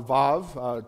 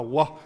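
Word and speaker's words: וו: makes kind of a Wah sound. It's like breathing out. Wah. But the letter itself is usually pronounced Vav when you're teaching on the letter specifically.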